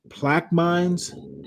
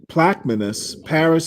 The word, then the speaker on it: Plaquemines: The end of the 1966 legal agreement with plaque mines. Is that how you pronounce it? How do you pronounce this, Solid Snake? It's plaque mines? Plaquemines? Plaquemines? Plaquemines. Plaquemines Parish Schools Yeah, announced I'll Tuesday.